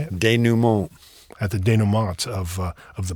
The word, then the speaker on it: denouement: Denouement.